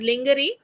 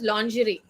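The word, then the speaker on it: lingerie: that is innerware it is not pronounced as linger it's a French word it's called as lery right applications for w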